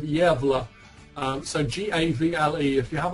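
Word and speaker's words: Gävle: and search for um and spell it gavel g-a-v-l-e this is some the swedish town of yevla so g-a-v-l-e if you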